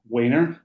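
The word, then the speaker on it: Wehner: It's Wener. It sounds like Trainer.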